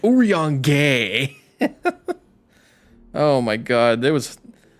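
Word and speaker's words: Urianger: Oran J Oran J my sister was on my ass about this character's name pronunciation and I got it right I was saying like urang gay oh my god there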